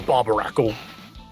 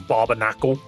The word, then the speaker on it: Barbaracle: Oh no, not Barbarakle. I will always get its name wrong. I will always say that this Pokemon's name is Barbnacle. Never once will I get that right.